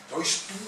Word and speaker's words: Deutschtum: Deutschtum significa germanidad, una palabra que se pronunciaba casi como regurgitando la palabra Deutschtum.